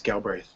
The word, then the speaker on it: Galbraith: Galbraith. Did I pronounce it right? That is correct, yes, Galbraith.